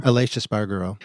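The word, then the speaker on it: Aleix Espargaró: Aleix Espargaro.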